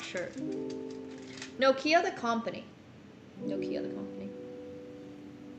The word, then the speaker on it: Nokia: spoke pretty fluent finish it's pronounced noia in Finnish Nokia noia and like all of